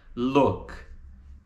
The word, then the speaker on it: look: A gente não pronuncia look com o som do U brasileiro. Tá entre o U e o O. Então fica look.